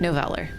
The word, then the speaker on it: Noveller: When you kind of use a word that it could be a real word, but it's not really a real word in the English language, you can't really expect people to know how to pronounce it. But that's how I pronounce it, Noveller.